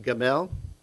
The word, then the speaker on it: gimel: and then lamin l and so this is pronounced gamel and what does it mean to lift up